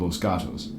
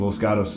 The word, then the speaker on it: Los Gatos: make the joke that you're not from Los Gatos when you call it Los Gatos, because Los Gatos is spelled Losgatos, but we say Los Gatos.